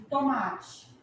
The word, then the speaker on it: tomate: E tomate, qual que é a sílaba tônica de tomate? Ma. Oxítona, paroxítona ou proparoxítona? Paroxítona, tudo bem? Porque a sílaba tônica é o ma.